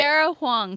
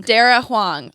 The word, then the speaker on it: Dara Huang: It's but Dara Huang. Dara Huang. I've been pronouncing her name wrong the entire time.